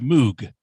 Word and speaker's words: Moog: Yeah, Robert Moog. That is correct. That is incorrect. It is pronounced Moog.